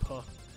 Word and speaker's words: pain: Pain is bread in French. Is it really? That's a turn. Pronounced puh because French.